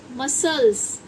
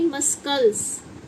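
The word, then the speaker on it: muscles: मसल्स ना कि मस्कल्स जो हमारी मांसपेशियां होती हैं वह होती है मसल्स।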